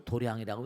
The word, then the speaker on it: 도량: 여긴 도장이라고 써놓고 도량이라고 읽어요.